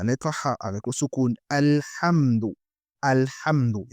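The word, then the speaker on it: الحمد: Et attention avec la prononciation de la lettre Ha. On dit Ha. Ce n'est pas Ha. Il n'y a aucune personne ne peut pas dire Alhamdu ou bien Alhamdu. On dit Alhamdu.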